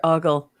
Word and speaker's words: ogle: Okay, well, I just looked up oogle or ogle, and I thought that there would be a difference between countries, but so far it appears as though both pronunciations are correct, and it doesn't appear to be regional.